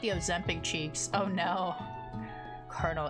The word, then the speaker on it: colonel: Colonel. Cole. Colonel. Tell me. Tell me again. That's colonel. Why is it spelled like that?